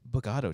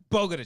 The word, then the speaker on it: Bogota: Oh, the film is called The Bogota Trip. Bogota trip. yeah. Bogota Trip. Excuse Yeah. me. I Um, butchered that. I was gonna oh. say Bogado Trip.